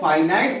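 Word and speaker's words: finite: अब यहां कई लोगों को यह लगेगा कि सर जो है वो यहां प्रोनाउंसिएशन गलत कर रहे हैं। ये जो फिनिट वर्ब्स होती हैं इनको फाइनाइट वर्ब्स भी कहा जाता है, और ये जो नॉन फिनिट वर्ब्स है इनको नॉन फाइनाइट वर्ब्स भी कहा जाता है।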